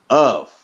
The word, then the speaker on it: of: Because I don't understand it myself sometimes, but the F of, okay, of, it sounds like a V.